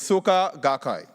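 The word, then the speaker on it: Soka Gakkai: you pronounce it so I just say remember soccer in Trinidad and Tobago and you're good to go so it's Suka gakai but soccer will also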